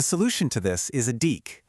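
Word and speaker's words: deque: The solution to this is a de. It's spelled d e qu q u e, but you say it like deck, as in a deck of cards.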